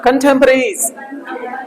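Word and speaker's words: contemporaries: तो अच्छा, क्योंकि ये प्लूरल है तो क्या हो जाएगा? ज लग जाएगा, ठीक है ना। कंटेम्परेरीज, कंटेम्परेरीज बोलो, कंटेम्परेरीज।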